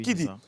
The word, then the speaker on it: Kidy: Alors, pour la petite histoire, il faut savoir que Kidi s'écrit ainsi K-I-D-Y. Voilà, oui, Kidi.